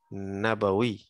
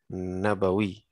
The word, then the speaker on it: Nabawi: Ini pengucapannya Nabawi. Tidak ada mad sama sekali di sini. Nabawi.